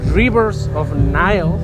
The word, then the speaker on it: Rivers of Nihil: It's been a while since I've done an interview, but today I have here Adam from Rivers of Nihil.